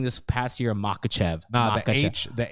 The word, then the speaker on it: Makhachev: It's a Makhachev.